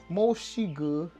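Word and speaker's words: 墨西哥: And if you wanted to say Mexico, it's Moxigu, because there's no Mexico. You don't say Mexico in Chinese. You say Moxigu, because that's the closest they're going to say to Mexico with their pronunciation.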